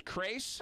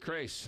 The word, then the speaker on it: Crais: And your last name is Crais? Crais. Rhymes with Trace. You got it. Robert Crais.